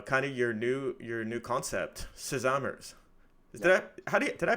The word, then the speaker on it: Sesamers: of your new concept, Sesamers. Yeah. Did I pronounce that right? Yeah, you can pronounce it this way. We tend to say sesame, like so sesamers, Yeah. but whatever works for you.